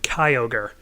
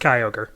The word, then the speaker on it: Kyogre: did you know that in the Pokerap for Gen 3, they actually called this thing Kyogre, and that messed with my head for a while? Yeah, I'm pretty sure it's pronounced Kyogre. But anyway, so Kyogre is